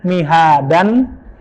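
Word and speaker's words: مِهَادًا: Harusnya mihadan, dibacanya menjadi mihada. Ingat Pak, ini sering kita lepas kontrol dan da-nya jadi kepanjangan. Mihada. Nggak boleh lebih dari 2, karena itu menyalahi hukum tajwid.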